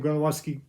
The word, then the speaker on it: Gronowski: Iowa quarterback Gronowski, it's how you say his name, Gronowski, came from South Dakota State.